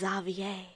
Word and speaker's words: Xavier: hey isn't that zavier I forgot it's pronounced zavier it's just spelled like Xavier and I knew a